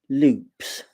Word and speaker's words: loupe: chat that um about loops now we pronounce it Loops but it's French and don't ask me